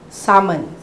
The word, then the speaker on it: salmon: uh we don't really particularly uh look at pronunciation unless it's really wrong uh for example Salman usually it's it's silent L salmon okay salmon or her instead of herb it's